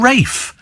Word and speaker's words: Ralph: fines is it no it's not Ral F that's the rafe F they're called Rafe I remember thinking all right Rafe this room name is Ralph but it's it's pronounced Rafe perhaps I should think